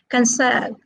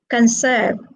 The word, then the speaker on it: conserve: where is the stress it is on the second syllable because conserve is a verb okay next what about